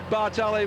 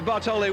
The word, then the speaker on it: Bartoli: has gone and taken bartelli Bartoli with him I'm missing out one syllable there but I tell